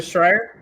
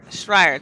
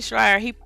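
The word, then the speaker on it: Schreier: Jason I see I think it's how you pronounce his name mm-hmm I think there's a strike Schreyer thank you sorry Jason Schreyer he announced it on his Twitter feed that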